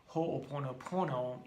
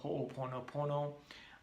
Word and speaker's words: Ho'oponopono: Hugh Len, the Hawaiian teacher who does the healing art of Ho'oponopono, in his book with Dr.